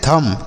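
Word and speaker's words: thumb: हम बच्चों पढ़ते हैं थम क्या पढ़ते हैं थम इसे थंब नहीं पढ़ेंगे टी एच यू एम बी देखिए यहां पर जो बच्चों बी लिखा गया है ना यह साइलेंट है इसे नहीं पढ़ते हैं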